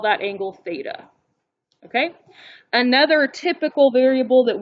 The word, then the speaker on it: theta: this and it is the greek letter theta t h e t a that's how you pronounce it theta um and it is the